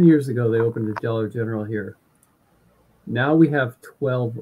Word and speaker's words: Dollar General: For some goofy ass reason, everyone, just like Travis, pronounced it the Dollar Gentral.